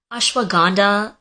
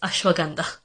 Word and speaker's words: ashwagandha: literally anytime it has to do with the pronunciation of an Indian word, I'm the one who's being corrected. Like ashwagandha and Himalayas, it's Himalayas, and it's ashwagandha.